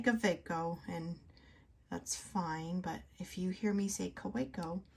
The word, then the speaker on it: Kaweco: So I realized that the W in some dialects is pronounced like a V, but I don't talk with that dialect, so I never use the V when I say Kaweco.